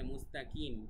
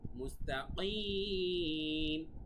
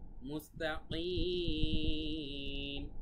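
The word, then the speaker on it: مُسْتَقِيم: ঠিক আছে, ইহদিনাস সিরাতাল, র এক আলিফ টান আছে কিন্তু, তারপরে কল, মুস্তাকিম, কিম, কফ গলার ভেতর থেকে হবে। অনেকে বলে মুস্তাকিম, কিম বললে হবে না, মুস্তাকিম, মুস্তাকিম, ভালোভাবে গলার ভেতর থেকে বলতে হবে।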